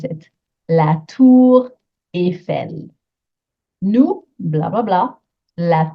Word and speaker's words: la tour Eiffel: verb voir, which is irregular in present tense, la tour Eiffel. And I know everyone goes to Paris to see it. Make sure you know how to pronounce it. La tour Eiffel.